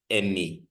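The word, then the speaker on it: εἰμί: But take note that this is a diphthong. Remember, we said diphthongs are those two vowels of which the last vowel is either an iota or upsilon. So this is a diphthong, which means we pronounce it as a single letter. And then this is mu, which is our M. And then this is iota, which is our E. So this is emi, emi.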